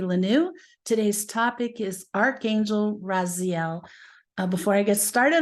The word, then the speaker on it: Raziel: this topic today Archangel raziel's name means secrets of God or knowledge of the Divine as you could hear it's pronounced Raziel emphasis on the second syllable the origin of the